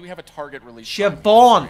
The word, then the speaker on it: Siobhan: Siobhan, So it's we're a B, releasing not a in B. 2018. Right? It's spelt with a So B, but it's we're- pronounced with a V.